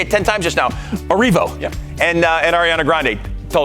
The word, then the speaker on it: Erivo: And Cynthia Erivo. Yeah. Erivo. See, I did say it wrong. Erivo.